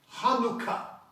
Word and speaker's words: Chanukah: So, the het, the ha-nu-ka. Hanukkah. That's how you pronounce it. You just pronounce the letters based upon the sounds.